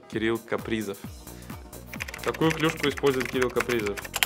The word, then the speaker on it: Кирилл Капризов: В Америке произносят Кирилл Капризов, надо Кирилл Капризов.